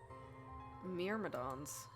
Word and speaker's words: Myrmidons: Myrmidons.